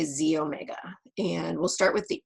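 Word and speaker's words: xEO Mega: means so first off that little X is a Greek letter X so it's pronounced Z and so you say Z Omega and we'll start with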